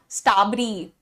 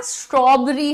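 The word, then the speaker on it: strawberry: this is नॉट लीची and this is नॉट स्टबरी भैया स्ट्रॉबरी होता है वो स्ट्रॉबरी ठीक है एंड पलंबर नहीं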